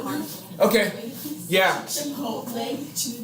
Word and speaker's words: Chipotle: Chipotle. Chipotle. The I is pronounced as an E because it's Spanish.